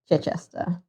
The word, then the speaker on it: Chichester: So yes, Chichester. The CE makes a ch sound as well as the CH making a ch sound.